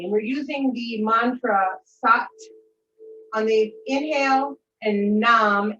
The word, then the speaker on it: Sat: we're using the mantra sat on the inhale and nom n-a-m-s-a-t pronounced s-u-t and numb is on